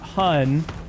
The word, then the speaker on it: hon: And it's a hun, like honey, but it's spelled h o n, not hu n, which is how I normally see it spelled.